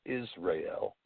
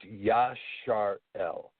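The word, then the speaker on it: ישראל: in the modern world but in the ancient world it wasn't pronounced Israel it was pronounced Yash are el and yarn means the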